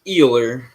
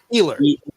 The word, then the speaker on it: Ehler: Is that how you pronounce it, Ehler? It's Ehler. Ehler.